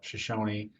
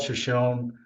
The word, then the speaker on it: Shoshone: The tribe calls it Shoshone. It was named after an Indian tribe. So I don't mean to disrespect the way people have pronounced it, but we are doing our best to pronounce it the way the tribe itself pronounces it.